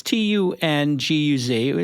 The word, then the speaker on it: Tunguz: And back on the program, Tunguz. Am I pronouncing it correct? Close enough. Thanks for having me back on the show, Jason. Give us the exact pronunciation. It's Tunguz.